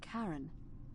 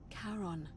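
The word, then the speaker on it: Charon: Only your pronunciation is a little off. The name you heard wasn't Karen. It was C H A R O N. As in Karon, the fairyman of the dead.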